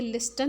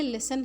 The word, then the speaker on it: listen: जैसे LISTEN, ये लिस्टन नहीं है, ये लिसन है, क्योंकि इसमें टी साइलेंट है।